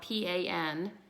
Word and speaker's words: Pan Away: And Pan Away is spelled P-A-N-A-W-A-Y, Pan Away. And if you think about it, it is pain away.